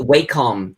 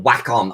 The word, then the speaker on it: Wacom: The Wacom, or Wacom, I think it's meant to be pronounced as, but I hate saying that.